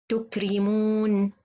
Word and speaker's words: تكرمون: تكرمون, تكري, so this Ra, it should to be light because it has kasra.